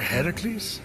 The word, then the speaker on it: Heracles: doing there that thing with your voice a heracles yeah that that is how it's supposed to be pronounced seems like a lot of work but